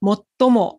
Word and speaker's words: 最も: 最後ですこれがもう一つの読み方もっともですね最も日本で最も